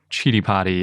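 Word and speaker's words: Citipati: but it makes sense that they would be pronounced differently because chidi potty is from mongolia and it translates to funeral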